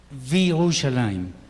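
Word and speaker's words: וירושלים: Si decimos desde Jerusalén, entonces Mirushalayim, y aquí y Jerusalén, Virushalayim.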